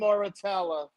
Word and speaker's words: Muratalla: Raymond Muratalla accepted a 70-30 split against Shakur Stevenson.